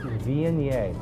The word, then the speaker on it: Viognier: Again, it's pronounced Viognier.